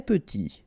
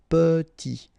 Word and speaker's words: petit: Très petit. Final T not pronounced and then E is pronounced like a E. Petit.